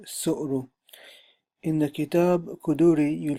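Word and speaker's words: طهارة: is the chapter on the rulings of suara or sorrow or sore okay that different pronunciations are found for this word alone when I'm going to stick to the word which I read in the dictionary is sorrow in the kitab Kaduri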